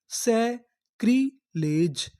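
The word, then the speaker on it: sacrilege: है कृ एल ई ले जी ई इसे पढ़ना है ज क्योंकि यहां पे लिखा है आखिरी में इको पता पता है कि इ का उच्चारण हमें नहीं करना तो हमारी पूरी मीनिंग क्या बनी?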